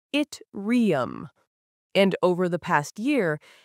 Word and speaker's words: Yttrium: Its name is Yitrium, pronounced it riium.